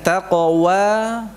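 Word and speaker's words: تقوى: Mengucapkan taqwa, taqo. Qafnya begitu, taqo. Jangan mencucu dulu. Tako, tako, tako. Nah, mencucunya pada saat mengucapkan wawunya. Wa, wa. Dan jangan kuat-kuat atau jangan tebal. Wa, ndak. Wa, tidak. Wa, dengan lembut.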